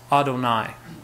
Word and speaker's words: Adonai: say the name Hashem but my Lord is pronounced Adonai and so whenever they would see the four letters yud he V or YH VH they would say Adonai as they read the biblical script instead of